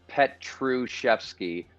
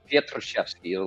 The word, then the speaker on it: Pietruszewski: I mean, well, the Englishized is Pietruszewski. Polish is Pietruszewski with the roll of the tongue, and it's 5 syllables. But English is just Petru, R-O-O, chef, like a cook.